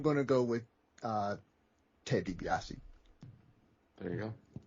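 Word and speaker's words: DiBiase: the match up again Scott Steiner and Ted DBS it's Ted dbii George Sparrow it's Ted debiasi uh and Andrew sker it's Cott Steiner oh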